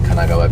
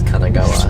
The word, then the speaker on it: Kanagawa: online we've seen there's quite a few in Kagawa prefecture you said Kagawa I know because I because you said it last night too I said it I thought that's how it's always pronounced no it's Kanagawa Kanagawa in Kanagawa prefecture there is actually a